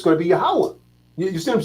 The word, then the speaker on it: Yahweh: The way this should be pronounced is Yahweh. You see? Yeah. Yahweh. You see what I'm saying? Yahweh. And again, that H on the end, you drop the A. So it's Yahweh.